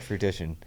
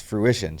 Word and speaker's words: fruition: I'm like, "It's not fruition." I'm like, "It's fruition."